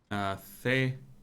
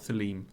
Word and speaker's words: Theleme: The bridge alliance, Theleme. Thelem. Thelem. Not Theleme. Thelem. They pronounce it differently. I'm going to pronounce it like the game does.